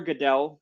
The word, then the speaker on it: Goodell: in the NFL not even know how to pronounce the name Roger Goodell but tomorrow Roger Goodell or Goodell whatever you prefer will go up and say